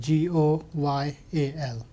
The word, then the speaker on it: Goyal: first name last name goyal g-o-y-a-l okay you ever have loyal mispronounced oh yeah go yeah gorilla s goyal